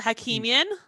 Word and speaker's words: Hakimian: for your first name how do you pronounce your last name so you got that pretty well hakeemian that's what i was going